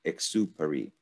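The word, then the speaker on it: Exupéry: than me uh exube it's like paris but i'm not really good on the egg exupari like supreme i think i it's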